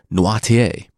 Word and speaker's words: Noirtier: Also, I actually listened to the Audible version long enough to learn that I pronounced nearly all the names incorrectly. Danglars being Danglars, de Villefort being de Villefort, and Nordier being Noirtier, among the most prominent.